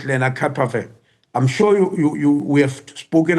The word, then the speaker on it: lenacapavir: changer you speak about, lenacapavir. My pronunciation of it is going to improve, I promise. It's perfect. It's perfect. lenacapavir.